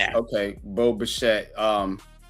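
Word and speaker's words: Bichette: Pronounced E is it's a silent E. It's okay. Bo Bashette.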